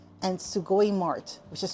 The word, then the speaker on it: Sugoi Mart: that's spelled B O K S U, and Sugoi Mart, which is spelled S U G O I, and then M A R T.